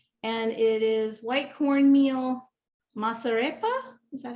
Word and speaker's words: masarepa: was the goya and it is white cornmeal masarepa is that how you say it yes yeah